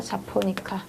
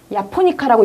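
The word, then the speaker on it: japonica: 카멜리아 자포니카. 야포니카라고 읽는 게 정확하죠? 보통 자포니카로 많이 읽는데요. 자, 정확하게는 카멜리아 야포니카로 읽는 게 맞습니다.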